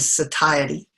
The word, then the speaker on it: satiety: that are involved in hunger and satiety that's a proper pronunciation of that word telling you that you're